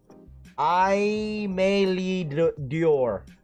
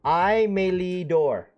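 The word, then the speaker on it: Aimé Leon Dore: dropping on the i i may lead dior i said that wrong again hold on let me see uh i melee door that's how you say it i texted the new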